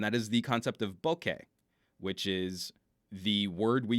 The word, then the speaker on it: bokeh: Bokeh. B-O-K-E-H. We don't really have a K-E-H sound in English in exactly the same way, so we've got to use metaphors for it. Bokeh. Two distinct syllables, not bokeh.